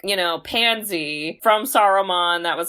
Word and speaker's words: Saruman: So, okay, the spell was cast by Saruman, which is 3 syllables, which is the wizard.